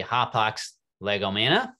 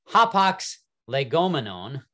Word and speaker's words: hapax legomena: to pronounce this in Greek, this would be Hapax legomena. And if you were to pronounce it in Greek, the singular form, so that Hapax legomena is plural, Hapax legomenon is the singular form.